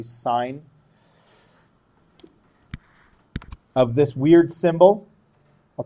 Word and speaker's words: sine: how we say it everybody wants to say sin but we don't say that as a habit because it's actually sign of this weird symbol